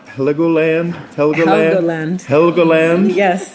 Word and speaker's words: Helgoland: Is it pronounced Helgoland? Helgoland. Helgoland? Yes, Helgoland.